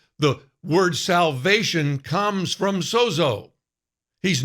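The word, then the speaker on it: σώζω: It's pronounced, I've learned this week, sozo.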